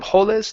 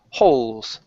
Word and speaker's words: holes: Here, instead of hololis, this e is silent. So instead of holis, the word is holes.